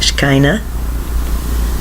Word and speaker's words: Shekinah: get 3 I get 3 words I get Shekinah spelled sh e ki n aah Shekinah that's how I pronounce it Shekinah and I got four four